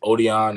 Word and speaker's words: Odion: All right, my first and last name is Odion.